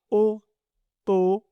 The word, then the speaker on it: automobile: Automobile. Donc, ce mot contient 5 syllabes. Automobile. E à la fin ne se prononce pas. Donc, on dit automobile.